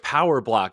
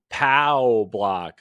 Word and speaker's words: POW Block: It's POW Block, like the POW block in Mario that spawns all the coins.